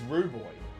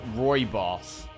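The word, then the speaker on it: rooibos: enjoyer person rub it's rub boy is it pronounced rub boy it's pronounced Roy boss I don't know Roy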